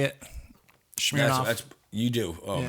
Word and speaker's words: Smirnoff: You just said Smirnoff. That's how you say it. It's Smirnoff. It's not schmear. Schmear is you put on cream cheese.